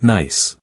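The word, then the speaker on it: gneiss: The rock beneath your feet is a cast and nice pronounced nice.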